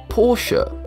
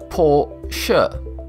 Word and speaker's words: Porsche: The correct pronunciation is Porsche. Porsha.